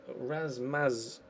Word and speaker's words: Rasmus: Is it Razmaz? Yeah, Razmaz. NL.